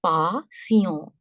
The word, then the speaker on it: patient: This word is similar, but this is patient. The pronunciation is patient because the sound of en is on and the last letter t is silent.